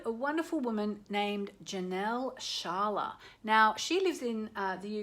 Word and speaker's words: Scialla: I actually found Janelle on YouTube, so if you look her up, her name is Sharla. It's spelt kind of an Italian way, I think, S-C-I-A-L-L-A, S-C-I-A-L-L-A.